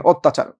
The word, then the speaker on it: অত্যাচার: আবার দেখেন অত্যাচার। অটা কেন ও হবে? কারণ পরপর জফল আছে তো অত্যা যা ছিল